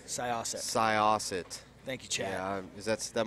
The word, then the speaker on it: Syosset: They're correcting my pronunciation in chat. How does it? Syosset. Syosset.